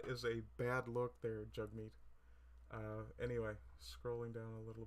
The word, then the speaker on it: Jagmeet: This guy on the left here, his name is, it's properly pronounced Jagmeet, but of course it spells Jagmeet.